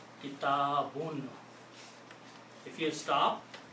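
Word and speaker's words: كِتَابٌ: Kitabun means a book. We know these words. I'm using the simple words that we already know. So the full correct word is kitabun.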